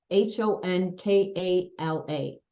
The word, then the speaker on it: Honkala: h o n k a l a honkala I should have asked you that before